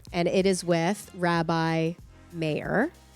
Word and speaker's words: Meir: it is with Rabbi mayor like John Mayor John Mayor last time I said